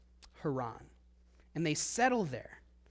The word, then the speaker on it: Haran: a place called Quran now it's spelled the same as Heron but they're two separate things so that's why I'm I'm pronouncing them a little bit differently so they go to